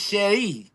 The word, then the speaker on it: Sherry: for you guys who don't know how to say it for real, it's Sherry.